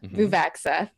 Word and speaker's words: Vuvaxeth: So I'm playing Arcturus Vuvaxeth, not Vuvuzela, Vuvaxeth.